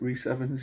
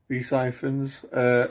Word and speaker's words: Rhys Ifans: Is it Rhys Evans? Is that what you say his name? Rhys Ifans in there as a character called Eyeball Paul,